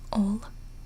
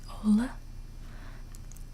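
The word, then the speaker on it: Ole: by the name of I think it's pronounced old or maybe hola let's just go old it's spelled Oh Elly's I'm not really sure Oh Kirk Christiansen was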